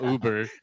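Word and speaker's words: über: I saw Uber. Uber. It means is Uber. Is that Uber? It's a Yeah, if you put the two dots on top, it means over like above over something.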